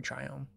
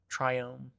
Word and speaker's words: Triome: triome triome triome probably triome I say triome I think it's it's probably triome because like I know like biome is the pronunciation of that so I think it's try buy two I don't I really